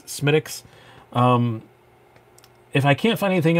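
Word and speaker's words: Smithwick's: It's not pronounced Smithwix. It's Smittix.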